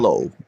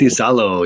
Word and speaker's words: Iisalo: Give me the pronunciation Tuomas one more time. Iisalo. Tuomas Iisalo.